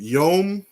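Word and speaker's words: יום: on the strongs right they pronounce it yom we say yam all right which can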